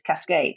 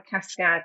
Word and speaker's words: Cascãd: waterfall in French but if you spell say it as it's spelled in French it's Cascade which which is awful so that's how the cascad and I I put a tier in for the short a so that's how cascad